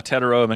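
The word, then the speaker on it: Tetairoa: Uh, how do you pronounce this guy's name? Uh, Tedaroa McMillan.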